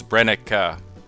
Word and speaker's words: Brenneke: this company in the past we've called it brenneke I've heard others people call it brenneke brenneke and many others but if you ask that german the pronunciation is brennick i'd like to thank a viewer named ross